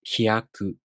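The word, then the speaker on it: ひやく: This is pronounced hyaku.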